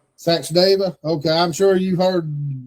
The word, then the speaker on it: Sachdeva: Welcome, It's Sachdeva. Sachdeva. Okay, I'm sure you've heard so many pronunciations, it's not even funny, but we appreciate you coming on.